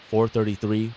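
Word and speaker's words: 4′33″: John Cage's 433 pronounced 4 minutes 33 seconds is a musical composition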